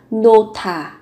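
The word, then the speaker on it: 놓다: Trong tiếng Hàn sẽ là nota, nota, nota, đặt. Các bạn cần chú ý về cách nối âm, phụ âm hờ và tớ kết hợp với nhau, các bạn phát âm thành nota, nota.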